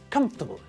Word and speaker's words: comfortable: from the adjective comfort the word looks like it also has four syllables doesn't it comfortably but again just like the word vegetable when we pronounce it it's only got three syllables in the same way as we do with vegetables we squash the middle of the word together it becomes comfortable so if you see